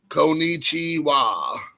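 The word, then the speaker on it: こんにちは: hello in the afternoon time it's caliche ah konichiwa Kon ni CH IWA konichiwa in the morning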